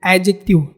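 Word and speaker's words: adjective: pronunciation होता है एडजेक्टिव एडजेक्टिव ना कि एडजेक्टिव यहां पे डी को आपको साइलेंट करना है और प्रोनाउंस करना है एडजेक्टिव एडजेक्टिव प्लस नाउन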